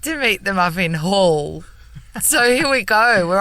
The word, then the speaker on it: Hull: Hull.